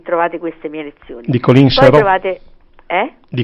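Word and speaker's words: Coline Serreau: Di Colin Serrault. Poi trovate, Di Colin Serrault, si pronuncia così, bellissimo, sì.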